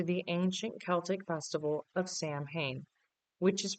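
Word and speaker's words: Samhain: Halloween's roots trace back over 2,000 years to the ancient Celtic festival of Sam Hayne, which is pronounced sewing.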